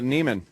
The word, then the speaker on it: Neiman: Nivens. Is it Nivens or? Oh, Neiman. Neiman.